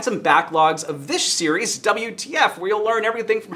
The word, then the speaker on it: WTF: Well, thank you so much for joining here on WDF, where we transform food in the Modernist Pantry Test Kitchen. And that's actually WTF, and